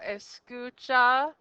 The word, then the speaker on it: escucha: put the accent yep so escucha if you just look at escucha then the sko is the second to the last syllable if you look at